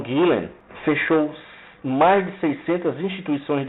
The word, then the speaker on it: Gülen: dele, que é o Gülen, acho que a pronúncia vem do alemão, Gülen.